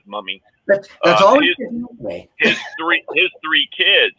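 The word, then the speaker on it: Mumy: billy mummy i said i think he pronounced it mew me but everybody says mommy his three his three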